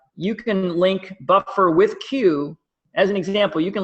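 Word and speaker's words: Quuu: And then there's another company called Q, which is spelled Q-U-U-U, and they're an aggregator of online articles.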